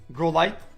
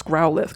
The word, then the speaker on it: Growlithe: Aish growite need bro can't even pronounce Growli correctly.